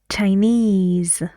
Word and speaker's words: Chinese: go and which syllable all the words have the stress on ease Chinese Balinese okay now please